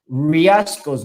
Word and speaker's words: Riascos: But we don't pronounce the R, we don't pronounce it as in English. Riascos, no, we pronounce it Riascos.